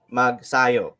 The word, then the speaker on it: Magsayo: people are actually pronouncing his name his last name wrong it's uh it's ma it's mark mag sayo so that's how they say it yeah yeah